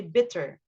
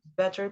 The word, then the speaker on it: better: this one several times instead of saying better you say bitter better people remember to stress the bear eh it's not b better better people okay better this